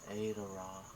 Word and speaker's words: Arowra: So a the r a r o w a it's pronounced as adora and um it's a continent with five country